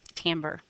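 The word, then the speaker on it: timbre: finished with this week tamber spelled timre pronounced tamber so go ahead put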